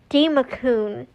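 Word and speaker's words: Democoon: I can't pronounce them. Yeah. See, that's so much easier. It's Demacun, which is a strange name.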